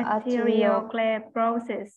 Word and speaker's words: arteriosclerosis: So arteriosclerosis.